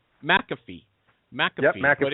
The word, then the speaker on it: McAfee: Is it McAfee? You got it. That's it. McAfee.